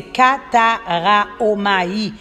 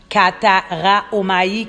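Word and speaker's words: καταράομαι: A-L-A-H, et le grec, c'est Kataraomai. Kataraomai, K-A-T-A-R-A-O-M-A-I, Kataraomai.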